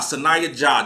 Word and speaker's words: Sahnya Jah: Sahnya Jah. That's how it's pronounced.